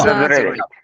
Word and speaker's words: exaggerate: Exaggerate. Exaggerate. It is no. It is exaggerate. Exaggerate. Please remember. Exaggerate. Exaggerate. J. Okay. Exaggerate. As you saw in gigantic, the first ja.